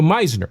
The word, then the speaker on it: Meisner: And the last name of Randy Meisner is actually it rhymes with wise, wiser with an N, so Meisner.